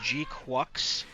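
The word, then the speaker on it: GQuuuuuuX: Uh, it is called it's it's spelled weird, but it's pronounced G Quucks.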